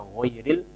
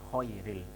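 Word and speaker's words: غير: Atau ghairil bisa juga tertukar dengan ho karena satu tempat, ya. Ghainun khouha, satu tempat, yaitu ujung tenggorokan. Misalnya baca ghairil dibaca khairil.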